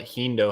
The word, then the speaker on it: HEENDOO: Like this is crazier than what HEENDOO has said tonight. Am I pronouncing that correctly?